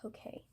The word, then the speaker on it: hake: brush is similar to the flat brush is the Hokey. It's called a Hokey. It is spelled like hake, but it is pronounced Hokey.